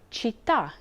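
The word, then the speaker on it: città: k sound but why one rule to remember is that c followed by e or i makes it a soft c h sound for example chao meaning hello chenna meaning dinner chitta meaning city but c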